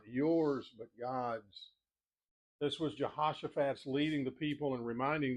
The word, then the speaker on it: Jehoshaphat: One of the more fun names to pronounce in Old Testament. Jehoshaphat, J E H O S H O P H A T. Jehoshaphat.